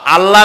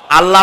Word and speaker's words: আল্লাহ: গুণাবলীতে বিশ্বাস আল্লাহর নাম আল্লাহ বলেন তো আল্লাহ নয় কিন্তু আল্লাহ হচ্ছে অশুদ্ধ শুদ্ধ হচ্ছে আল্লাহ বলার সময় মুখটা গোল হয়ে যাবে বলেন তো সবাই উচ্চারণ